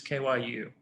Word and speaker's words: kyu: part of the q next network which is kyu is how you pronounce it which is ideo you've heard an